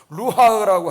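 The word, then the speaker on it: רוח: 히브리 말로 루하, 발음하기도 어려워요. 루하흐라고 하는데요.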